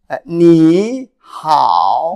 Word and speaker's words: 你好: So it's, 你好. Mm-hmm. Then you make it shorter as a, 你好, yeah, it's more sound like a second tone, but it's actually still your in your concept, in your mind, still third tone, but just make it a the transition quicker.